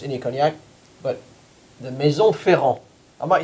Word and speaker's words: Ferrand: And cognac it is, not just any cognac, but the Maison Ferrand.